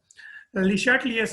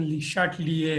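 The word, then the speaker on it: Le Chatelier: अच्छा, ले चाटलियर्स प्रिंसिपल। ये ले चाटलियर्स प्रिंसिपल क्या? ये एक फ्रेंच केमिस्ट था, हेनरी ले चाटलियर। इसको लीचैटलियर भी प्रोनाउंस करते हैं, बट इसकी सही प्रोनाउंसिएशन लीशाटलिए है, ठीक है।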